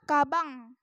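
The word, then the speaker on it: かばん: dibaca Om nah contohnya Ini Kaban kan ada tuh Kaban Kaban dibaca cabang misalnya nih misalnya nih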